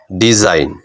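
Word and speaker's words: design: আই কোন শব্দে যদি আই জি এন থাকে তাহলে জি এর উচ্চারণটা সেখানে হবে না ঠিক আছে দেখো সাইন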